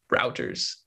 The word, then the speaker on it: Reuters: I mispronounce it all the time. Yeah, it's routers.